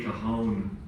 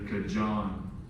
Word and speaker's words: Cajon: go to places and they say Cajon correctly instead of kajon you've made a word